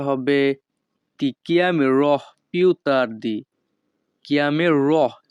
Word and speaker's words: chiamerò: chiamerò উচ্চারণটা হবে এমন chiamerò।